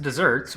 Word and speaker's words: deserts: It's pronounced desserts, but spelled deserts.